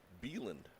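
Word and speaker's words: Beland: Isaac Beeland. That's spelled B-E-L-A-N-D.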